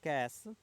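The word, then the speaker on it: cache: processor speed mismatch now C A Memory pronounced cash is commonly used for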